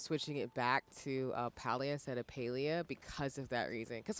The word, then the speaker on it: Palia: I always used to call this palia like cuz pals cuz you're hanging out with your friends and you're gaming. Mhm. But I think on their little Q&A for pronouncing it, it's Paleia. And I'm like, "Oh, Paleia,